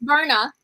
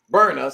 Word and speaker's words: Berna: I can't pronounce her name. I keep getting mad. I'm not gonna say it wrong. It's Berna. Berna.